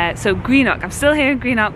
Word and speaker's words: Greenock: Actually, I think I've been saying it wrong. I've just met up with two lovely Scottish friends of mine, and they were saying Greenock, so I think I've been saying it wrong throughout this whole cruise.